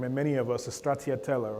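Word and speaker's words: stracciatella: Uh my favorite ice cream and many of us is Stratiella, right? That's how you actually pronounce it. It's also Italian. Don't straatella, right?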